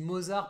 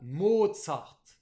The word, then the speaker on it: Mozart: mode sarto bah oui nous on dit mozart parce qu'on le voit écrit mozart ondimba beaux-arts mais non c'est un prénom autrichien donc allemand qui se prononce bien à l'allemande mode sarthe donc mode salto et